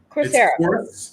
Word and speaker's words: Coursera: Coursera.